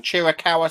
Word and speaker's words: Chiricahua: big fan of the I don't probably pronounce this wrong Chiricahua son you pronounced it exactly right I did coke yeah